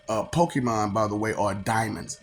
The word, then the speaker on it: daemon: Pokemon, by the way, are diamonds. Daemons. You call them daemons, but it's pronounced diamond.